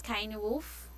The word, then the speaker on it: Cynewulf: It's pronounced as Kainwolf.